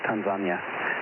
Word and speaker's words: Tanzania: Yeah, he was the one that told us that we were pronouncing Tanzania wrong. Well, it's just that's the way they pronounce it in Tanzania. We were there like 20 years ago, and they call it Tanzania. But I think in the U.S. the proper pronunciation is Tanzania.